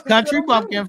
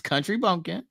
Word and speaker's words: country bumpkin: bumpkins or whatever whatever this country pumpkin first of all say it right is Country Bumpkin okay dumb contraboffkins or